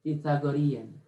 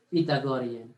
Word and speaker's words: Pythagorean: Yan, Pythagorean. Or mga Pilipino, tayong Pilipino, we pronounce it Pythagorean. But yung mga slang, yung mga Americanized tongue, Pythagorean.